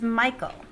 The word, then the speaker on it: Michael: so what is it it's michael or mitchell the first syllable is accented in that case whereas